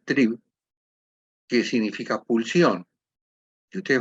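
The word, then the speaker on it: Trieb: Freud la transformó en la palabra trib que se pronuncia trib que significa pulsión si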